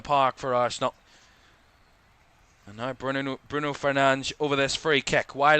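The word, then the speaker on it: Bruno Fernandes: Works it back to Bruno Fernan. That is his the way you pronounce his name. Bruno Fernan.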